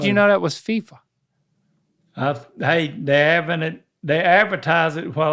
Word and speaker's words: FIFA: FIFA. FIFA. I got the fever.